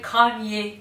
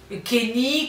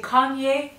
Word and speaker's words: Kanye: Il s'appelle Kanye. Kanye. Kenny, Kanu. Non, c'est pas Kenny. C'est Kanye.